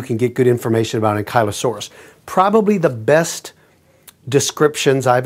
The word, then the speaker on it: Ankylosaurus: In any case, I've been reading about Ankylosaurus, which I think should have been pronounced closer to hanky instead of unky. You're right. Some people pronounce it Ankylosaurus.